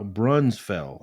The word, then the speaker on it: Braunfels: now check this out new Bruns no new bra bronze fell I guess is the way you say it it's kind of hard